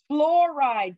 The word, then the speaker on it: fluoride: Fluoride, but let's spell it correctly. F-L-U-O-R-I-D-E. Fluoride. So it's fluoride, F-O-U-O. If you do O-U, that's fluoride. So no fluorides, you guys. It's not flour, it's fluo.